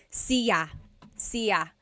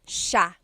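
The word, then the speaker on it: siya: It looks like it should be pronounced sa cia but it's actually pronounced sha sha. So the s i y it's a sha sound.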